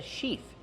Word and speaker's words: sheath: Use the long E sound like green beans, she, plus the TH with no voice, like in thank you and think. Sheath.